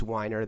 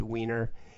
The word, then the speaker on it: Weiner: i was an officer my last name is winer that's easily mispronounced weiner you know you know